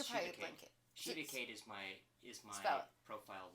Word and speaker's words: Shivaakaid: Shivacade.